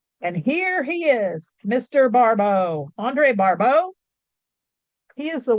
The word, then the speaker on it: Barbault: It's barau. That word up there. Oh, it's over there. That's spelled uh barbo. I have this on mirror so I don't know which side is which. Um, it's not a barbell.